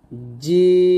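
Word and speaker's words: جيم: তাহলে বলতে হবে তারপর জিম জিম আমরা চার আলিফ টান দিব। আর জিমের মাখরাজ হলো জিহ্বার মধ্যখান তার বরাবর উপরে তাহলে সঙ্গে লাগবে। জিম। আবার বলেন জিম। দেখুন আমি আপনাদেরকে আমার সূত্রে আপনাদের বুঝিয়ে দেই।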